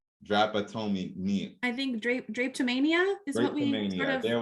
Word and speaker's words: drapetomania: say it tammy drapatomi mean i think drake drapetomania is what we need there we go the